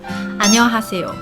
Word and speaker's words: 안녕하세요: say this sentence but the important part is when it pronounced us which is like there s equivalent in the Korean character she I actually find it's difficult sometimes as well so it will take